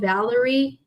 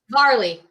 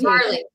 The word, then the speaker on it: Varley: I think it's called Valerie. It's a really good brand that we have that does a lot of sports. They're doing some beautiful clothes. Varley. There you go. Mispronounced. Varley.